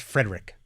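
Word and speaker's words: Fredrick: It's spelled Frederick with no E in the middle for some reason, because my mother thought she was being creative, and it's ridiculous. So it's not Frederick? It's Frederick. Is that how your grandpa also?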